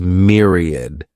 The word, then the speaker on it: myriad: The next noun is myriad. This word has three syllables and the stress is on that first syllable. Mere sounds like mere myriad.